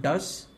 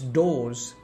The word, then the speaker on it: does: Well, I immediately thought, maybe it's not does, it's does, D-O-E, do, plural does, one of them does,